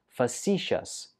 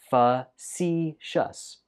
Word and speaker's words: facetious: It's pronounced facetious. Facetious. Facetious. Stress goes on the second syllable.